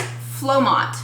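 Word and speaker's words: Flomot: It's pronounced Flomont.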